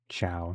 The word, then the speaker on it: Ciao: Chow, Chow. Okay, rhymes with cow.